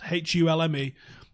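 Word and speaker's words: Hulme: Google Hume hates you LME that's how it's pronounced hu LME flats and uh the toppings we used to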